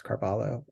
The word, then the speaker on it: Carvalho: felt strongly that um that carv would have used in in the era um the the sort of the spartic pronunciation um I think other people may feel differently that maybe he had anglicized it and and they called themselves carvalo um so I think